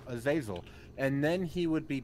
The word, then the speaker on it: Azazel: break my bond with azazel uh zazel yeah is that really like the how it's pronounced yes it is oh really yes i've always wondered okay i guess i know now azazel and then he would